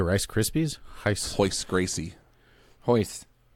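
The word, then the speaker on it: Royce: In Portuguese, R at the beginning of the word sounds like H. It's freaking weird. Like Hoist Gracie. I didn't know that. Yeah. Did you say Rice Krispies? Hoist Gracie.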